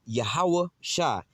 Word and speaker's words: Yahawashi: How you say his name in Hebrew is YAHAWASHI, all right?